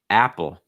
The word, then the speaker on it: Apple: um after that apple apple a sound like at or cat so it's not ah